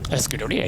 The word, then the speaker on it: Scuderia: Out of the Rinaldi stable, that's the right way to say it. Scuderia. Scuderia, yes. Scuderia.